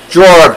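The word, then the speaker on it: Georg: I am Jorg. I'm Jorg. Jorg, professor. That's right. Fun fact. Thank you for joining us. Did you know my name? It is spelled G-E-O-R-G. The E fell off.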